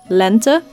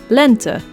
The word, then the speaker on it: lente: the difference talk man e as in the word lent which means spring in Dutch the first e being pronounced the same way as its English counterpart so e and the second one being pronounced as an uh sound lent you usually see the